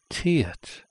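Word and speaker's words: 티읕: And this is the Tiet.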